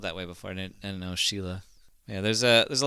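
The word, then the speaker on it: Síle: o b a n Sheila is s i l e did you know that I did not know I've seen uh s l e like spelled that way before and know Sheila yeah there's a there's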